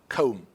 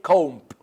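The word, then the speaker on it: comb: this session okay okay com right we cannot say comp no it is cone because we have b after m b book okay so in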